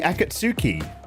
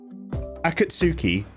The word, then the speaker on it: Akatsuki: that what you're saying Akatsuki Akatsuki like a katsu curry katsu curry Akatsuki akasu akatsu akasuki no